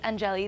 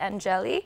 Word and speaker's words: Angeli: Well, it's Angeli. That actually is the way to pronounce it, Angeli.